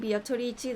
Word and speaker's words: Beatrice: Surprised Amaya's been pronouncing Beatrici the right way this entire time. But with an Italian pronunciation is the right way. I'm just doing the Japanese pronunciation.